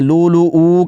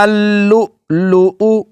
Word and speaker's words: اللؤلؤ: پڑھ کے اس کو لمبا کر لیتے ہیں، لو لو او کر لیتے ہیں۔ تو درست طور پر کیسے پڑھنا ہے جی اس کو؟ یخرج منہما اللؤلؤ، منہما اللؤلؤ، اس کا ہجے کیسے کریں گے؟